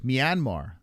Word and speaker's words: Myanmar: pronounce Myanmar. Oh, it's Myanmar.